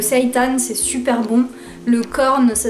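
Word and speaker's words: Quorn: Moi j'adore la fausse viande par exemple, le seitan c'est super bon, le corn ça s'écrit Q-U-O-R-N, ouais ça doit être ça.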